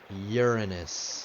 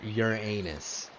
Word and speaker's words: Uranus: I'm gonna do Uranus and that's how I pronounce it Uranus not Uranus but if that's funnier and you want me